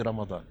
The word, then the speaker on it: Ramadã: Ramadã, em árabe, Hamadan, ou Ramadão, às vezes tem algumas... em português é Ramadã, com o tio no último A. Eles pronunciam desse jeito.